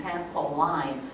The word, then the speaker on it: trampoline: Okay, it looks like line, trampoline, but what we say is trampoline. What do we say, everyone? Trampoline. So pronunciation-wise, the tricky part here is that the I with the N is not I, but in this word, trampoline, is E.